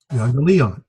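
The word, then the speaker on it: εὐαγγέλιον: So 1, 2, 3, 4, 5 syllables. That's what I thought. Okay. You, on, li, on. Euangelion. Emphasis here.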